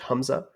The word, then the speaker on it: Hamza: my name which uh my name is pronounced humza and it means Lion Heart which uh I actually